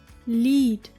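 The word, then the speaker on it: Lied: let's look at them e e sounds like a long e as in the word lead lead meaning song I I it is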